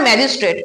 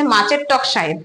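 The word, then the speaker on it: magistrate: এমনকি আবার ম্যাজিস্ট্রেট, ম্যাজিস্ট্রেট কথাটাকে অনেকে বলে হচ্ছে মাছের টক সাহেব।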